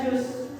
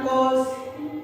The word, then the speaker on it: choose: People choose, yang dibacanya choose, bukan cause, tapi choose.